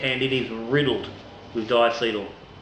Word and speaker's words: diacetyl: it is riddled with diacetyl diacetal if you want to pronounce it that way yeah that beer is